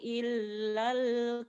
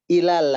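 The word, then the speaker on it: إلى: Iz awal fityatu illal kahfi faqalu rabbana. Oke, diulang, ilalnya tidak ditahan ya. Tidak ilal, tapi ilal langsung.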